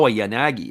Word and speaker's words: Yanagi: Sai on in relief or sa sa Yanagi is how it actually is pronounced there we go as